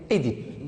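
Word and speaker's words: Œdipe: il y a la première prononciation, on prononce Édipe. On dit Édipe, on accepte Oedipe, mais on ne dit pas Oedipe. Oedipe, on accepte maintenant, mais bien sûr, d'abord, on l'a prononcé avant, c'est Édipe. Donc, prononcez Édipe.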